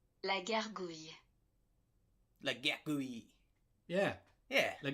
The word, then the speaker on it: gargouille: Um a dragon called La Gargouille. Gar- gouille. I'm going to make sure I translate it to you. Gargouille. Gargouille. I think it's Gargouille. French, right? Like French. Like Go- guille. Go- guille.